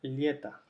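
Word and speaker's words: лето: todos los otros casos, cuando la o no está acentuada, se pronuncia a, aquí tenemos la e que está acentuada o la y que está acentuada, entonces la palabra se pronuncia lieta.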